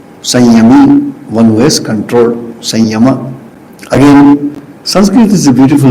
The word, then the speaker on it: Samyama: Why you call it Sanyama? What not Samyama or Sanyama? Sanskrit grammar is different. Ya comes after Sa, that's why this pronunciation. But if I have if we have to understand and break this word called Sanyama, it is called Samyama.